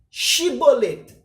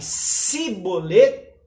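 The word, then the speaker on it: שיבולת: chiie mole' xii boleto se eles falarem se bollée eles são efraim mitas porque havia aquela questão de sotaque que eles não saberiam pronunciar a palavra china lembrai que é a penúltima palavra é a penúltima letra do alfabeto hebraico chin depois nem a letra tava que é a última eles tinham é dificuldade em pronunciar essa letra e então eles dilce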